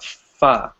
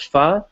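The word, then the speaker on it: phở: so yes yesterday I tried a dish called foie it's called foie but it's written as faux pho right it's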